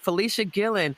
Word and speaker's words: Fleshia Gillon: that right Felicia Gillen is that am I pronounce it right yes ma'am all right Felicia Gillen who is a designer uh fashion a former